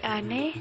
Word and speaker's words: ane: Pengucapan E yang dimaksud bukan E pada kata negara, melainkan E dalam kata emansipasi. Contoh, kita menjadi kite, ana menjadi ane, dan lain-lainnya. Selanjutnya itu yang kedua, kepercayaan Betawi.